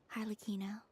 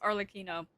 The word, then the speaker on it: Arlecchino: Well, bye for now, Harlequino. Can't believe it's pronounced Arlecchino.